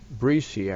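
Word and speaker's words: Brehse: from tammy i always i'm worried about her last name breesy i think is how you say it b-r-e-h-s-e tammy's put together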